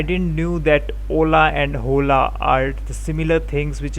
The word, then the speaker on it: hola: i heard uh hola it was written as hola and pronounced as o l a h was silent as i've already told